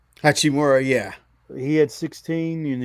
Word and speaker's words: Hachimura: Hachimura.